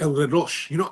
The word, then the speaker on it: El Reloj: Oh, pronounced El Reloj.